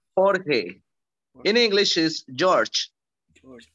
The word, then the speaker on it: Jorge: My name in Spanish is Jorge. So that's Jorge. Jorge. In English is George. George Jorge.